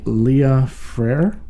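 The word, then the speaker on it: Léa Freire: if i'm correct and this was written by leah freyr that's right correct good pronunciation uh brazilian flattest and composer but it's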